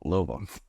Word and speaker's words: Louisville: Louisa I was like it's not Louisville louisv louva it's like like bottomore Baltimore Baltimore it's like it's stuff like